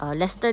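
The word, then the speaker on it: Leicester: jollibee doon mismo sa lest Lester daw ang pagpronounce diyan l square in London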